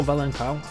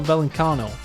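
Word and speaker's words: Vallecano: randy integra plays for rayo valenkow that's not how you say it to real valencano there we go it's not a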